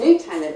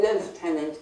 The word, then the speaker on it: lieutenant: So as I say, lieutenant, the American way, is closer to the French original.